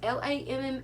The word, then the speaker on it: Lammas: I'm not sure if, I can't remember, is this pronounced Lammas or Yamas? It's Lammas, or Almas.